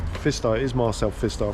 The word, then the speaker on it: Pfister: Pfister. Pfister.